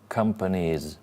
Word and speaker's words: companies: Company, company, companies, 3 syllables. As the final syllable is already the E sound from the Y, okay? Company, companies, so it's the Z sound as well.